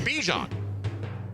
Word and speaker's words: Bijan: And, like, he was asked to pronounce his name on a little video clip, and he said Bijan.